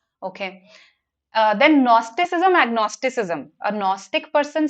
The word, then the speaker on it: Gnostic: A Gnostic person says, see, I know that God exists. See, this GNO here in Gnostic, agnostic, it means to know. It is pronounced as no only.